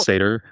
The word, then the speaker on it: Sator: It's Sator now. I yeah, mean, it's actually a much better Latin pronunciation, but whatever.